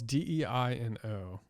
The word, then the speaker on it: Deino: Well, it's Deino. I hear a Which lot of would be people pronounce it Dino.